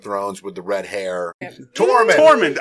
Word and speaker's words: Tormund: Tormund. I said Tormund. I thought you said Dorm. Yeah. Tormund. Close enough. I mean, I was one syllable I'll off.